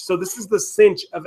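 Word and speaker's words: sinh: the negative x all over 2 it is pronounced H so this is the Cinch of X ascention X hyperbolic cosine is pronounced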